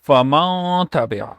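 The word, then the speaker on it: فمن تبع: This is how you pronounce it. Like you hide the Nun sound, you take sound in nose for a second or so, like Faman, and also you stretch a sound a little bit, and that is called Ghunna, like Faman Tabia.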